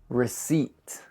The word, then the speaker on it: receipt: Also, make sure to put stress on the eat. Receipt.